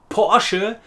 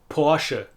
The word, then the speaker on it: Porsche: And talking of word endings, for a long time the German brand name Porsche was known as Porsche in the English-speaking word, until we realised that it also has two syllables.